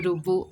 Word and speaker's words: Rubu: Meanwhile, it was Rubu. Initially, he was named as Ribu, and over a time, our pronunciation changed into Rubu.